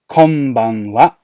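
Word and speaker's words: こんばんは: Konbanwa. So again, just to emphasize it, I've put in inverted commas. Wa. Konbanwa.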